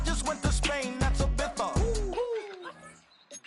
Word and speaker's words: Ibiza: I just went to Spain, that's Ibiza. Ibiza. Ibiza, yeah, it's pronounced Ibiza actually.